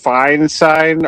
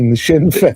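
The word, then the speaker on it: Sinn Féin: Are you a I think it's I think it's it's pronounced fine sign. Are you are you a member? What or is it sign fine? I don't know what shinane shinfane. There you go.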